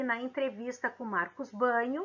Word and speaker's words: Bagno: define língua turma ele nós escrevermos bagno neco g mudo mas a pronúncia é banho tá marcos banho a